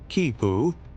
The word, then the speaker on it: quipu: The quipoo, pronounced kipu, is a recording device made of knotted cords.